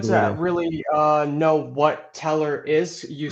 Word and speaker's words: Tellor: I work at the decentralized Oracle protocol called teller that's spelled te l l o r not to